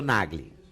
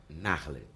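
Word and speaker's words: Nagle: Então, por exemplo, eu sou Nagli, N-A-G-L-E. Teoricamente, eu seria Narle, pronunciadamente, ao pronunciar.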